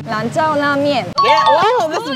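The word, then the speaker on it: 兰州拉面: What's the authentic pronunciation for the place? Lanzhou la mian. Lanzhou la mian.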